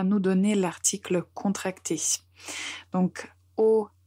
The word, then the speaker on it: aux: Donc, au, à la, AUX, qu'on prononce aussi au, et cette partie, il faut retenir.